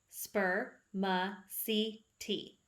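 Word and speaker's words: spermaceti: heads it is called spermicity you say it like this spur ma c t but scientists don't really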